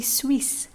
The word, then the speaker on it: Suisse: word s so here there's a double s in the word when it's double s we pronounce it as s not that okay just we Suisse not just sweet sweet